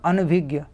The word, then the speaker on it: अनभिज्ञ: देखिए अनभिज्ञ है ना, मतलब ज्ञा, ज्ञा नाक से भी उच्चारण होगा, अनभिज्ञ, इस तरीके से।